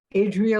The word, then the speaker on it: Adria: great go for it Adrian like the Adriatic Sea fabulous okay um excuse